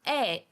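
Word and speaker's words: ええ: c'est du phonétique donc on a deux é côte à côte on va les lire comme un allongement eh donc eh ça veut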